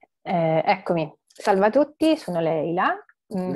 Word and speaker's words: Laila: Eccomi, salve a tutti, sono Leila, Leila. Si scrive Laila, ma si pronuncia Leila, okay.